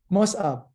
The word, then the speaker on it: Mosab: classes i remember yeah mosab my father gave me a difficult name inside it said two letters that don't exist in english my father didn't know